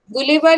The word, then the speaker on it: Gulliver: गुलिवर या गलिवर जैसे भी बोलो, प्रॉपर नाउन है, आप इसको कैसे भी प्रोनाउंस कर सकते हो. इट इज नॉट a mistake.